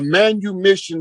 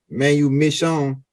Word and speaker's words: manumission: capacity and made him become uh a a Manu Mission servant put the term Manu mission in there m SE say it spell it again u m i SS i o